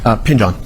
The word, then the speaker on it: Pingeon: Yes, you said it's pronounced Pinjon? Pajon.